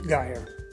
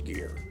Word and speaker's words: Geyer: when you get away from our County it's guy spelled the same pronounced differently my theory on that is when he lived in mount gilead he was poor and his name was gear then he got all these stores and moved